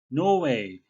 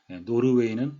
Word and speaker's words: Norway: 보호하기 위해서 노 웨이 우리말로는 예 노르웨이 라고 표기를 하는데 발음은 예삿일 은 들어가지 않고 노이에 가깝게 있구요 영국 시그날 발음이 없이 노우 웨어 미국 식은 약간 네오를 하면서 허리를 구부린 노회 이런 식의 되겠습니다 노르웨이는 아닙니다 본문 설명에 앞서서 한